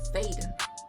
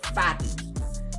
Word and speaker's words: Faden: The correct pronunciation is Faden, soft A, Faden, Elvish, Faden. It cherishes you, Faden. But I also get, and it's right for some of the Fadens out there, Fadden. Fadden is common.